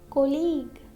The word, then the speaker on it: colleague: Letter U is silent after a G and before a vowel. For example, colleague, guitar, guitar, guidance, guidance,